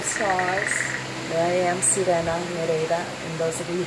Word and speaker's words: Nereida: of this lifetime, is they pronounce it Nereida, which means the 50 daughters of the sea god Nereus, the most famous Nereida, is Achilles' mother, Thetis.